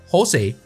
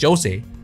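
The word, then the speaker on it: José: of Spanish origin, and in Spanish, the letter J is pronounced as the letter H. Therefore, we have Jose. However, in countries such as Portugal, it is simply pronounced Jose.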